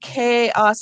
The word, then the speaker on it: chaos: And in this word chaos, I hear two syllables. My first syllable is K. The sounds are K, A. In this word, we're using the CH to spell the K sound.